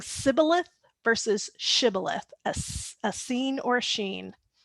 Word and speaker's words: Shibboleth: a King James version, say now Shibboleth. And so he said, Sibboleth. for he could not frame to pronounce it right.